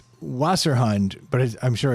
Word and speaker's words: Wasserhund: Wasserhund is how that WASS. Phonetically. ERHUND. phonetically for English people. But in German, it's Wasser.